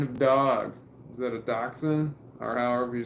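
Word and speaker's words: dachshund: go what kind of dog is that a doxen or however you spell it that is a dotion and you did spell it wrong do d a c h s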